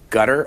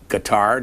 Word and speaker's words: Qatar: in Qatar or in Qatar, depending on how you want to pronounce it. You mingle the words Qatar and gutter. Would you like to try back it? Of your throat, gutturally as well.